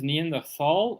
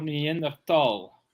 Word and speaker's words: Neanderthal: wounded also good question is it near the fall or near the tall I've always pronounced it Neanderthal because it's it's German Meander Valley it's yeah it's uh close it's between uh Frankfurt and Heidelberg yeah yeah the H is in there uh but I I've